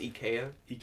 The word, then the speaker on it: IKEA: what sir I don't care yeah it's actually pronounced EK o DK yeah yeah this the Swedes will be extremely